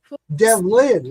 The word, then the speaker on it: Devlin: Devlin, like devil, but Devlin.